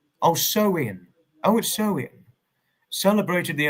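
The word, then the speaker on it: Samhain: It began over 2,000 years ago with the Celtic festival Sam Hayne or pronounced oh so in oh so in celebrated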